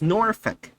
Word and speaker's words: Norfolk: It's Norfolk. I'd like to say some of these designs just really concern me. I know it kind of sounds like you're saying Norfolk, but it's pronounced Norfolk. It's not Norfolk.